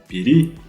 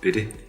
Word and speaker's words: пири: Тостум пири. Не бери, а пири.